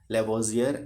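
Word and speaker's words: Lavoisier: अच्छा चलिए, इंग्लिश में अगर आप इसका प्रोनाउंसिएशन कीजिए थोड़ा अलग है, Antoine L लेवोजियर and Proust, है ना।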